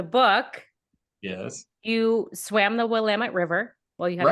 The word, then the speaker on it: Willamette: In Oregon are like, it's Willamette, damn it. Yeah. If you remember the damn it, you're okay. Yeah, you got it. Right. So in Oregon, the Willamette River.